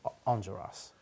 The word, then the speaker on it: Enjolras: French, but it's just Enjolras. But you have to do that thing with your lip. You should. You did. Your lip goes up. It's like an Elvis thing.